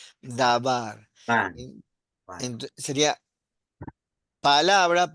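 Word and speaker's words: דָּבָר: ¿Cómo se pronuncia esto? Dabar. Dabar.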